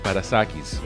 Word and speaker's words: Parassakis: Now, Theo is Greek, so I'm going to say how it should pronounce in Greek is Parassakis, okay?